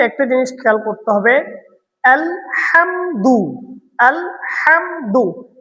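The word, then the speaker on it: الحمد: আলহামদু আলহামদু এখানে ছোট হা করা যাবে না। এখানে আমাদের হুত যেটা বড় হা আছে এটা উচ্চারণ করতে হবে।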